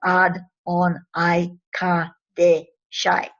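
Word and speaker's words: Adonaikadeshai: the Adam Kidmon through the Adonai Kodesh is Ad-On-I-Ka-De-Shai. I'm going to spell that.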